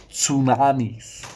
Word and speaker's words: tsunami: very dangerous absolutely there is a silent letter and it is is the letter T even though I like pronouncing it just like psychology it just sounds funnier than psychology it's the same with tsunami it just sounds better than tsunami um anyway five 4